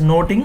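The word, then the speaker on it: Nothing: Much Ado About noting so this should be pronounced as noting n-o-t-i-n-g noting that means gossips based on the gossips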